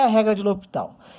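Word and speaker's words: L'Hôpital: Essa é a nossa terceira videoaula com o tópico regra de L'Hopital. Se escreve L'Hospital, mas falamos L'Hopital.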